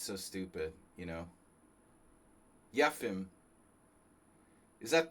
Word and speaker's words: Yefim: Yefim. I mean, you know, you got to say it like a Russian. Yefim Giller.